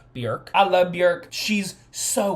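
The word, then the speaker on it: Björk: It's actually pronounced Bork.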